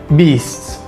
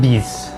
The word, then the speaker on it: beasts: The words beasts has 3 distinct sounds at the end. Say beasts and not bees.